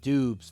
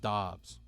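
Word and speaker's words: Dobbs: Yes, I said Doobes. There's no way that name is pronounced Dobs.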